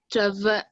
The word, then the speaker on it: travailler: You see, when you have I followed by double L, it have the sound Y.